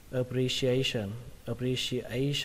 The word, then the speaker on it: appreciation: Tại vì A này là cái từ trọng âm chính. Appreciation, các bạn nhớ nhá. A nó phải to hơn những cái âm khác. Appreciation. Ở đây cái chữ sờn các bạn có thể đọc là sờn hoặc là sờn, tức là đọc thành âm ở hoặc là âm ơ nó đều được. Appreciation hoặc là appreciation, cả hai cách đều đúng.